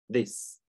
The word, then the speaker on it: this: Во-первых, это щепелявый звук, да? Надо язычок прислонить к нижним зубам. The. This, this. I произносится кратко, да, звук I.